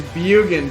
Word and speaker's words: Bjugan: It's Bjugan, drop the J.